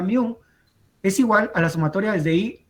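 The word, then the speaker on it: μ: media si es mío se simboliza con esta está como es como una un sí pero se pronuncia miu es igual a la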